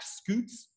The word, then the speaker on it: scutes: And some people call the plates on the back scutes, S-C-U-T-E-S. Sometimes they're pronounced like slightly differently. I like scutes though. Scutes, it's fun.